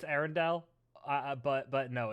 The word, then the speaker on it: Arendelle: is about the romance brewing between elsa of ardenelli i can pronounce aaron no it's it's arendelli uh yeah i know i i know it's arendelle uh but but no it's uh it's r